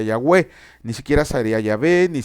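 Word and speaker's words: Yahweh: a este a pronunciarlo se pronuncia con las vocales le estoy dando clase rapidísima con las vocales de la palabra adonay y por eso se le nombra el nombre correcto en el hebreo sería yahwe ni siquiera sería yah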